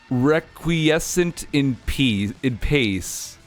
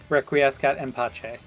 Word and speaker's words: Requiescat in pace: Oh yeah, and also this text up here, requiescent in pace. Requiescat in pace.